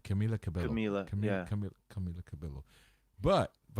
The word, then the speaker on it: Camila Cabello: He just mentioned "Senorita" by how do you pronounce her name? Camila Cabello.